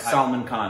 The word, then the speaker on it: Salman Khan: We finally watched I want to make sure I'm saying his name correctly. Salman Khan, right? Correct, Salman Khan.